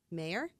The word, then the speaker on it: Maher: Nature's New Deal by Neil Maher mayor yes m-a-h-e-r however you want to pronounce that well I have just